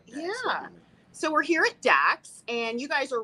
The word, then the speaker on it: Dax: king we are here today at is it dakes am i pronouncing it correctly yeah actually okay okay that's an idea we played with so yeah yeah so we're here at dax and you guys are right off of the